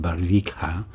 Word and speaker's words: Barvikha: r VI i k ha a and I pronounce it barika Russia but I want you to listen to